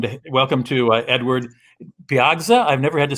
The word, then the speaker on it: Piegza: before edward is that am i pronouncing it correctly where we lost edward michael's still here where do you got it right piagza right welcome to the